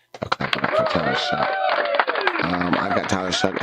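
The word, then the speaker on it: Shough: Like uh Tyler Shuck, it's it's pronounced Shuck, but it's spelled S H O U G H. Clap for Tyler Shuck.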